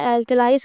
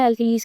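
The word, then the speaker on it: alkalis: ये British English में एल्कलाइज कहते हैं, अमेरिकन इंग्लिश में एल्कलीज कहते हैं, ठीक।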